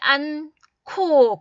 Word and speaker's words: 않고: 히읗 받침하고 기역이 만나면 키읔으로 발음해요. 크크크 발음이 나는 거예요. 첫 번째, 마스크를 끼지 않고, 그죠?